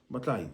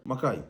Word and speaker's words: matai: All the posts of the Samoan fale, the Samoan House of Assembly, where all the Samoan chiefs, Matai, and Ali Matai, Makai, those who pronounce the K, they hold the roofing, the ceiling of the Samoan fale, the House of Assembly, fale fono.